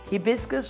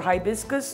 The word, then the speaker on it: hibiscus: also one cup of hibiscus or hibiscus it's pronounced both ways is correct it's it's a flower